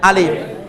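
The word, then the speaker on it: الف: দেখেন প্রথমে আমরা বলি আলিফ, হরফটা আছে আলিফ, যেটাকে আমরা ফার্সিতে আলেফ বলতাম, আলেফ ফার্সিতে আলেফ আর উর্দুতে আলিফ।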